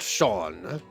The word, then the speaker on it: Seam: The name's Seam, pronounced Sean.